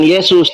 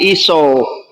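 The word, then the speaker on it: Ἰησοῦς: di dalam bahasa yunaninya namanya bukan Yesus tapi iso biblos sebentar biblos genesios iso Pak namanya iso dalam bahasa Yunani namanya iso Bukan Yesus ini ya kalau enggak percaya screenshot belajar bahasa Yunani ini bacanya memang iso Bukan Yesus biblos genesios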